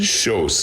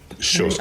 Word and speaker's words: Kjos: Kjos. It's Norwegian. Kjos, K-J-O-S, yeah.